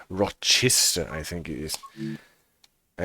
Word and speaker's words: Rochester: to feverishim and to Rochester Rochester I think it is I actually tried to look it up how it is pronounced and it is not pronounced roster or something like this but Rochester at least if Wikipedia